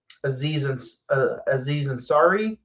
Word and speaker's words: Aziz Ansari: Aziz Ansari. I think I'm pronouncing that right.